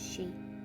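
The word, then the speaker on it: 四: four in Japanese is she which sounds like the pronunciation for death while the number of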